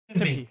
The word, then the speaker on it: Timpe: Yeah, for those of you that don't know, Michael, it's Timpe? Timpe. Sorry, Timpe. It's spelled Timpe, so I'm going to be confused.